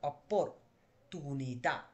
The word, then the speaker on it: opportunità: এটাকে আমরা ইতালিয়ান ভাষায় কি বলি, অপর অপর অপরচুনিতা। ঠিক আছে, দেখেন এবার উচ্চারণ করুন, অপর কি তুনিতা, অপরচুনিতা।